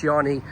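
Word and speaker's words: Djanny: I don't know how you pronounce it, but I think it's pronounced Johnny. But it begins with a D and then a J. A-N-N-Y.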